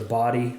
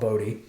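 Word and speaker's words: Bodie: there but we passed the body lighthouse is what they hell they pronounce it I used to call it bode we passed that and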